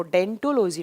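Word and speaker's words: odontology: ओ यहाँ साइलेंट रहता है, जब आप प्रोनाउंस करते हैं तो उसको डेंटोलॉजी नाम से प्रोनाउंस करते हैं।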